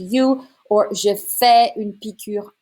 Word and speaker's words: piqûre: Faire une piqûre. Just pay attention to the accent on the U. Faire une piqûre.